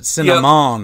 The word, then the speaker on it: Sinaman: You put me in check the first time I said it, Sinaman. Yep. Sinaman.